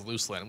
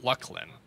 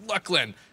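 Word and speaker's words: Luclin: l i n and I read that as Lucin which sounds like a cool name and but they pronounced it lucklan that's how they pronounced it and like after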